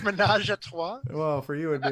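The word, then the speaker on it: ménage à trois: Or I believe it's pronounced menage a trois.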